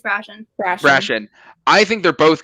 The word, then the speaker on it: Brashen: It was, I don't know how to pronounce. I say Brashen. Yeah, it's Brashen.